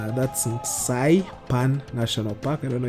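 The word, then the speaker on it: Nxai Pan: That's Nsai Pan National Park. I don't know if I pronounced that or I butchered it. It's Nxai, then Pan as in frying pan, or Saipan National Park in Botswana.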